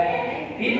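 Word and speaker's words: half: तो यहाँ पर जब F से पहले L हो या N से पहले L हो तो L अपनी साउंड को साइलेंट रखता है, काफ, हाफ, हाफ, पाम, पाम।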